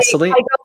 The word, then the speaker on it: Celine: That's the actual pronunciation. Yeah. Is it Celine or Celine? Celine.